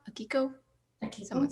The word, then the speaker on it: Akiko: grace of it all was i'm going to mispronounce her name again akigo akiko thank you someone say it she was great